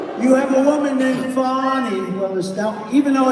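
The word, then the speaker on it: Fani: well now even though it's I believe it's spelled f a ni I to my way of thinking that's Fanny but when she became the district attorney I think she put a little emphasis on the you PNY so corrupt fonny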